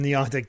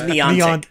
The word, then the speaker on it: Niantic: Harry Potter from Niantic didn't even catch on as much as Pokemon Go.